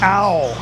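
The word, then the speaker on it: เอา: The easiest one to remember is ow. Ow. Like like ow.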